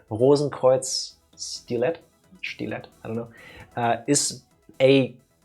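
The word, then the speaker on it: Rosenkreuzstilette: It's German words, so I do it the German way. Rosenkreuz Stilet, I don't know, is a kind of cuter version of a Mega Man clone, I guess.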